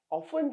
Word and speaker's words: often: මේ silent t එකක්. මේ t එක ශබ්ද වෙන්නේ නැහැ. හරිද?